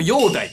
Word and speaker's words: 煬帝: この人も陽代で統一させていただきます。帝と書いて代と読む。